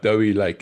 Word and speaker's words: Dowie Lake: I mean, a captain like Dowie Lake, and note my pronunciation there. I've been taught properly by you. It's not Dewey, it's Dowie.